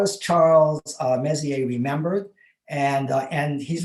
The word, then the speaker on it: Messier: about this messier person it's actually pronounced more like messier my french is not